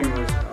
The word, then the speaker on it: Alain: Do you pronounce it Alain, even in English, or Alain. do you prefer that? Alain? Yeah. You prefer Alain? English, Alain. Okay.